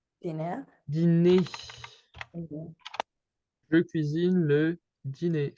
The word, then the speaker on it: dîner: However, in that case, it basically does nothing. You would say le dîner. The E is pronounced the same way, le dîner.